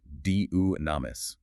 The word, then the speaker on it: dynamis: The second is dynamis, D-Y-N-A-M-I-S, pronounced dunamis, which translates to power.